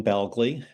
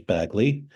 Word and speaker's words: Bagley: baly B yeah so I pronounce my name Bley although um many times it's been pronounced as baggley um my ancestors came